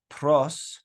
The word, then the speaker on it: pi: word in that phrase P good all right in in English you'll hear people call it Pi but really the right way to say it is p okay and obviously that's